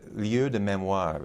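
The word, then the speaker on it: lieux de mémoire: pierre nora or noche they give it its french pronunciation called the liu de memoir translated either as sights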